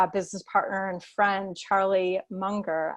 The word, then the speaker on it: Munger: partner and friend charlie munger i think it's pronounced monger but he said take